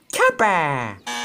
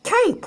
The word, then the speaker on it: cape: all right right right if there's a silent e at the end of the word it makes the a say a right now what does it say oh that says cape right yes cape it